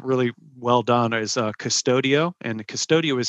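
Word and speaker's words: Qustodio: of that are really well done is uh custodio and the custodial is spelled it's a little different spelling q-u-s-t-o-d-i-o that's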